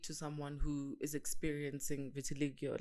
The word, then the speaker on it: vitiligo: How is someone supposed to speak to someone who is experiencing vitiligo? Like vitiligo.